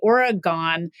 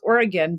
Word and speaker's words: Oregon: or think about the Oregon Oregon pronunciation so if you're from Oregon it's Oregon but if you're not from Oregon you sometimes say Oregon where it is commented